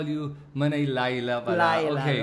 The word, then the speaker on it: Leila: actually It's spelled like laya but Actually It's pronounced as Layla l a i but the spelling is le i l Okay so at least I know to call you Manay Layla pala okay L mm yes and then the